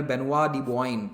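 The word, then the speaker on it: Benoît de Boigne: लिए रखा था, तो इनका नाम था जनरल बेनुआ दी बोआइन, इस तरह से प्रोनाउंस किया जाता है, ठीक है।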